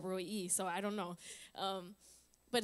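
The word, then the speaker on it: El Roi: She said Roy E, so I don't know.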